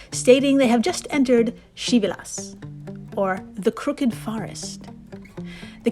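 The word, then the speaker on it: Krzywy las: kind, please type in Shivelas Kolographina. And if you're completely lost on the spelling, don't worry, I've got you. Shivelas, of course, is spelled nothing like it sounds.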